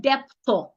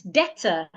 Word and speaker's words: debtor: It is not debtor. It's debtor. Debtor.